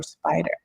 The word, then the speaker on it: SPDR: See the acronym S P the finance world is it pronounced spider it stands for standard and pores but you